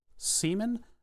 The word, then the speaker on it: Seaman: Sega Dreamcast it's called cman Seaman no C man get it right C man used to get real annoyed at you if you said it wrong that's the wrong view